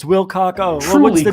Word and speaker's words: Wilcock: Take it into consideration and say it properly. David Cock. Oh, it's Wilcock.